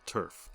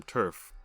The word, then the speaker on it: TERF: if they saw a Turf let me pause right there to some of you that might not have ever heard the term Turf it's spelled t-e-r-f not t-u-r-f and it means trans-exclusionary